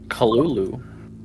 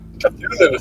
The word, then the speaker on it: Cthulhu: Kalulu. Cthulhu. Cthulhu, thank you. I'm His good. name is pronounced.